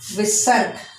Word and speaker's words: विसर्ग: ये अह को हम बोलते हैं विसर्ग। विसर्ग अक्षर। और इसका जो बोलने का तरीका है उसको आधे से बोलना है।